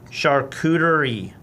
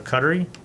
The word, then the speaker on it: charcuterie: probably impossible to get it to look good charcuterie that's how you say it i was right you were wrong would i say cuttery something dumb yeah um i look at this